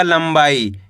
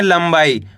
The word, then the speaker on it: लंबाई: तो मिलकर बन जाएगा लंबाई। कैसे पढ़ेंगे? लंबाई। आ रहा है समझ में? यहाँ पे ला के ऊपर अनुस्वार की मात्रा है, तो अपन को करने के आधा माँ का उच्चारण निकालना है।